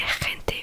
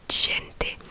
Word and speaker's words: gente: par comment dire, par réflexe, voilà, je disais rente, mais du coup non. Du coup c'est gente, comme si c'était D-J. Donc gente.